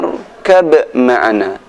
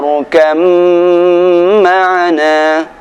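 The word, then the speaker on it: ارْكَبْ مَعَنَا: Tertulisnya ya bunayya rkab ma'ana, akan tapi cara membacanya ya bunayya rkam ma'ana.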